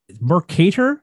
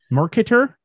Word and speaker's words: Mercator: The reason for this is that familiar, and I may be butchering this word, Mercator map projection. Is that how you say it, Jamie? Do you know? Mercator? Mercator map? Yeah, I see it. Okay. Yeah, whatever you think. Okay, we're going to go with Mercator.